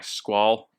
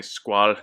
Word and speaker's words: Squale: So as far as pronunciation goes, I'll say Squale just because I have French connections. My family's French, so I'll say it the French way.